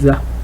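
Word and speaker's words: ذ: Après le del, on a le za. Le za. Ça, il faut un peu sortir la langue.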